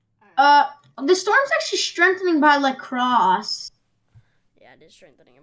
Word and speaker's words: La Crosse: Oh, it's actually strengthening a storm approaching La Crosse.